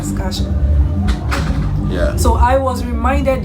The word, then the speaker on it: Saskatchewan: I can never pronounce Saskatchewan. You got it right yesterday, though. Yeah, today I didn't get it right. Saskatchewan.